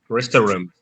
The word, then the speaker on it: restaurant: Nos enseñaron a pronunciar que eran 3 sílabas, ¿ok? Restaurant, pero solamente son 2. Entonces la pronunciación correcta es literal así. Usted solo debe pronunciar 2.